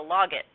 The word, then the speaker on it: logit: a grad student who insisted that you because you're logging it it's a log it not a logit fine I've heard low I've heard like other pronunciations with the G anyone else want to